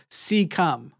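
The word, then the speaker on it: cecum: out an organ earlier I don't know why you mispronounced it so bad it's called seeum um the seeum didn't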